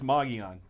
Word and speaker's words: Mogollon: They lost to Mogollon, which is spelled Mogollon, so I don't know if I'm saying that right. I don't know. They tell me it's Mogollon.